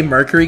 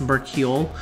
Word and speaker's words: Mercurial: of correcting it um i say mercury gauntlet which is not accurate it's mercurial i just say it